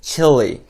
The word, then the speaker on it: chilly: chilly. 먹는 칠리, 칠리 소스 할 때 그 칠리랑 발음은 똑같아요.